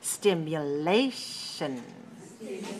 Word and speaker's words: stimulation: at the next word stimulation stimulation four syllables stress the third watch me stimulation show